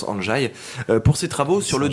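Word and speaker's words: Andrzej: ndr est 2e j voilà comme ça se prononce en jaye pour ses travaux sur le dosage en radio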